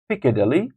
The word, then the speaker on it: Piccadilly: think Cathedral number five Piccadilly Circus Piccadilly Piccadilly Circus first syllables number six Leicester Square